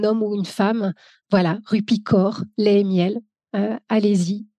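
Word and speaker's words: Rupi Kaur: serait des livres de poésie de la poétesse rupicor ça s'écrit K a ur r C'est une canadienne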